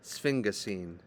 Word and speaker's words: sphingosine: either a glycerol backbone or a this is pronounced sphingosine backbone your glycerol backbone is what we saw